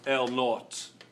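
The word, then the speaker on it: L₀: l o is going to be is actually pronounced L naught and that will be the initial length it's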